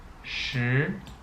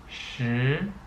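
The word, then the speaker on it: 十: okay so in Chinese when you come to 10 it's pronounced sure okay let's review what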